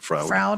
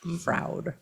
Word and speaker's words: Froud: Froud, I think is how you say it. I'll put it up on the screen. He has big. Like book- proud, but with an F. Froud.